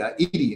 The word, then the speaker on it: Edie: Got Eddie, Edie. That's how you pronounce it.